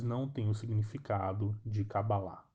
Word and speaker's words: Kabbalah: no final acaba lá então esta é a pronúncia real da palavra não cabala mas sim kabbalah E aí e tendo